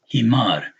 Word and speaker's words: حمار: See again here, this aleph is elongating the fatah over this meme. Himar.